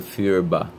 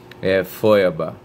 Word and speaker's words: Feuerbach: Eu tinha pronunciado Feuerbach. Aí fui procurar aqui, é uma coisa sofrida tentar dizer algum nome em alemão, mas vamos lá. Feuerbach.